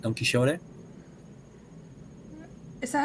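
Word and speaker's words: Quijote: la mancha like don quixote is that how you say it in spain uh you actually say don quixote with a that sound that hurts your throat okay but i don't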